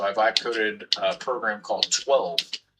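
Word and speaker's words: TwHELLve: So, I vibe coded a program called 12. And I spell it like this, t w and then all capital h e l l and then v e. So, it's like 12, right?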